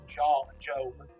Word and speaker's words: Job: The most famous account being the biblical story of Job, that's how you say it.